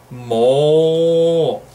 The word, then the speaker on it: もう: Se dice mo. Mo. Es como las vacas, igual cuando hacen mu. Pues en japonés, cuando decimos mucho mo, mo, mo, nos dicen que parecemos una vaca. Mo.